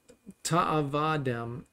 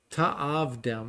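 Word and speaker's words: תַעָבְדֵם: Lo ta'avadem, that you are not, ta'avdem, okay, ta'avdem, so you pronounce it, you're not to serve them.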